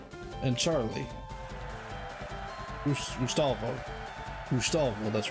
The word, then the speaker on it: Gustavo: Satoshi, Misty, Petrie, Male, Gustuvo, and Charlie. Gustavo, that's right.